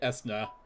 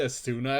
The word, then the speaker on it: Esna: I always pronounced it Esna. Actually, I always pronounced it Asuna at first, just after the Final Fantasy spell. But I think it's supposed to be Esna.